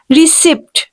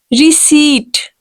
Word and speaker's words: receipt: No, people used to pronounce it like receipt. No, this is receipt. Correct pronunciation will be receipt. Correct pronunciation will be receipt. Here P will be completely silent.